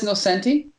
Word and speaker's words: Nocenti: mean there's such a and no senti or anal chanti I'm not sure you pronounce it but I miss 19 you sure yeah X I've been watching a lot of interviews with her and she says Nocenti yeah so how they